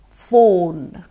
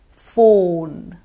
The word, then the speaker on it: phone: drink coke show show phone phone now the telephone or the phone is often called fun so no more phone everybody Vaughn is a